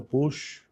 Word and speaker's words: Puig: Bueno, yo nací en una familia pluricultural porque mi abuelo por parte de mi mamá era o fue don Antonio Push, que así se pronuncia el puic.